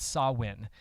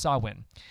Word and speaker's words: Samhain: Celtic Festival it's called saw win and it's spelled Samhain so you've probably if you've done any research it's it's pronounced saw win and that's the ninth